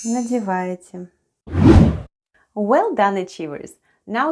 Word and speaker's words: надеваете: Let's go 🕹️ НОСКИ /naskee/ is "socks"; ВЫ /vêê/ is "you"; ВЫ НАДЕВАЕТЕ /nadyevayetye/ is "are putting on" НОСКИ /naskee/ -